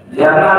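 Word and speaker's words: جمال: indah dan menyukai keindahan Jamal itu mnya panjang ya dibacanya kalau dibacanya pendek Jamal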